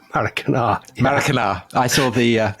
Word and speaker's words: Maracanã: And the other one is Rio de Janeiro's Maracanã. Maracanã, I pronounced that right. Maracanã.